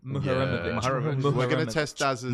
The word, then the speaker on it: Muharemovic: And Homerovic, We need to learn his name. Muharemovic.